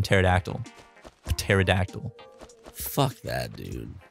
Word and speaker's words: pterodactyl: Or just start it with like a P and just like a P silent. Like in pterodactyl.